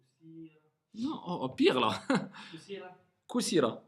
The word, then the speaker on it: كثيرة: كثيرة Kusira, voilà. Parce que au début c'était limite, tu disais Kusira. Non, Kusira. Kusira.